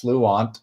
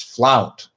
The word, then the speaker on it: Flount: Then there was Flount, which I always called Fluant, but then after a while, Kim told me, no, it's not pronounced Fluant, it's Flount.